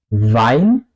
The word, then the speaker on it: Wein: La W en alemán se pronuncia básicamente como una V en español, ¿ok? Aquí tenemos un muy buen ejemplo, Wein, pero vino, el mismo sonido, Wein, vino, ¿ok?